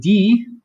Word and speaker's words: die: In the word die, it's IE. So again, pronounce that second letter in IE or EI combos. So IE is pronounced like the English letter E.